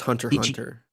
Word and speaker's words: Hunter x Hunter: consuming, and I have plans to watch maybe Hunter x Hunter. I've been back on anime at the moment, so come talk to me about that weeb shit. Marco, So it's just Hunter x Hunter.